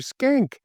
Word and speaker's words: Schenck: the phone and talking to Mr. Skank. That's Nick, where he's talking to Nick, and they got the pronunciation right.